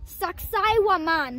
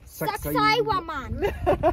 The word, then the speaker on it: Saqsaywaman: Saqsaywaman.